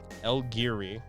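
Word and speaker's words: El Guiri: So for the episode The Sith, it is Studio El Giri, and that's how you say it.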